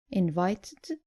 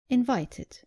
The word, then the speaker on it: invited: So, not invited, but invited.